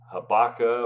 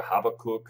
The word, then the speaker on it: Habakkuk: I have for you ibaka or Habakkuk however you want to pronounce it chapter one gives us